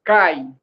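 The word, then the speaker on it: kaj: Essa palavrinha aí, K-A, um J, que você está vendo, que é cai.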